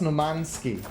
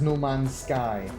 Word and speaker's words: No Man's Sky: Oh, well, that's Nomansky. Nomansky would be one way of saying it, but the game is No Man's Sky. As in the sky that belongs to no man.